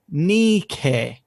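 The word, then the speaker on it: νίκη: okay how about this which was present pronounced something like nikkei okay n e k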